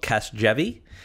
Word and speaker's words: Casgevy: Well, let's we'll get the pronunciation out of the way. This is a medicine that's called Casgevy.